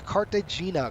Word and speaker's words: Cartagena: name it is cart am I saying it right Cartagena Cartagena sorry we're going to Cartagena Columbia right on the